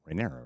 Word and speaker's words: Rhaenyra: I always get confused on how to pronounce it. Rhaenyra, right?